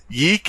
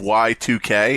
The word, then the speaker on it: YIIK: So, DP, Yeek is a mispronunciation of Y2K.